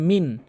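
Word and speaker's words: مِنْ: এরপরে মিম নুন জেরে মিন, এখানে গুন্না করছে না, এটি ভুল।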